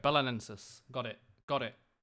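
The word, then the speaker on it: Belenenses: I keep saying Belenzis, and it's wrong, right? Someone left the stream because I think I disrespected him. He shouted at me with his caps locks and everything. Just say bolognese. Belenensis. Belenensis. Is that right? I'm awful at pronouncing stuff. Okay, perfect. Belenensis.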